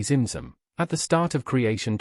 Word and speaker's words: Tzimtzum: The Ein Sof, meaning limitless light, contracts through a process called Tzimtzum, pronounced phonetically Zimzum, at the start of creation to allow room for divine expansion.